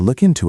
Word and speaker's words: look into: I can't do it now, but I'll look into it later. Let's practice the pronunciation. Look into. The K in look links to the I in into.